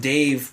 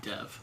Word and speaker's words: Dev: Dev Patel, but I heard it pronounced Dave Patel. Really? By a Muslim. Almost 100% sure it's I think Dev. it has to be Dev.